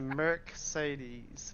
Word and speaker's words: Mercedes: It's a Mercedes, but you got to merk it.